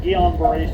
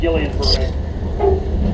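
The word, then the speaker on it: Guillain-Barré: finally diagnosed me with guon Beret syndrome some people pronounce it Gillian Beret it's one of the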